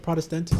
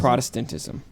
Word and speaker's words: Protestantism: How do you say it? Protestantism. Protestantism. Okay, thank you. You're like focusing on the syllables too much. You just got to run through the word. A lot of hard words pronounced. You just got to go through it.